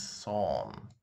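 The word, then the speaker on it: сон: It means son. It's pronounced as son.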